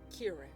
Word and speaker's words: Kieran: It's pronounced Kieran.